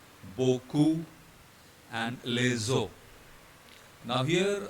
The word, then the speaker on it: beaucoup: Right, so ignore the X first of all, and then all these spellings have the same sound, which is O. They all are to be pronounced as O. H will remain silent.